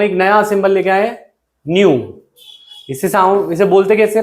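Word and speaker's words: nu: जैसे अभी हम एक लैम्डा लेके आए थे, अब हम एक नया सिंबल लेके आए, न्यू. इसे बोलते कैसे, प्रोनाउंस कैसे करते हैं?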